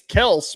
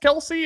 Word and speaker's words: Kelce: Orleans or is it a Travis Kelce situation where his name is Kelse but it kind of isn't Kelsey and he just says